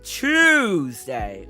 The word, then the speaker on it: Tuesday: Tuesday, like CHE. Like, I pronounce it as like chewing, like Tuesday.